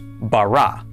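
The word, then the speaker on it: בָּרָא: This is pronounced bara.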